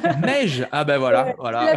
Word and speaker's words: Meigge: Alors, juste mon prénom, ça se prononce Mej. Mej.